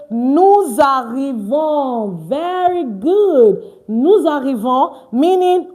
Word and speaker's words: arrivons: John says, nous arrivons. Very good. Nous arrivons, meaning we are arriving. Okay, Prudy has a question. No, Okafor, please, is arrivons with an S. We don't just pronounce the S when we are saying it.